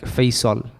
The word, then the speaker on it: Faisal: But then as I grew up, I realized that my name in its asl should be pronounced, it's with a sad, so it's like Faisal.